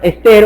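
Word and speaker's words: ἀστήρ: La palabra para estrella es una palabra muy conocida, la palabra ester o aster, depende cómo lo quiera pronunciar, desde qué acento, que es una estrella.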